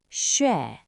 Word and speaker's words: 血: 血血血写写写. So, how do we pronounce this word?